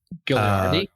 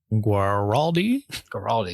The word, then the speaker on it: Guaraldi: Vince, Vince Gilliardi. Guaraldi. Yeah, I always mispronounce.